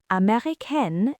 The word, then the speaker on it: américain: And notice again, américaine ends with an E because I am female. If you were saying it, Avery, you'd say je suis américain without the E sound at the end.